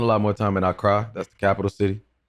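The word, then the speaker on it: Accra: But now I spend a lot more time in Ara. That's the capital city. Yeah. Okay. Um that's how you pronounce it.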